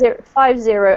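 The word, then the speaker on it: fifty: Because if you have 15 and 50, 50 is 50, and the emphasis comes on the first syllable. 15 is 15, and the emphasis comes on the second syllable.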